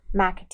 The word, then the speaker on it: McAtee: McAtee.